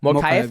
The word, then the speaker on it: Mokaev: Mokaev.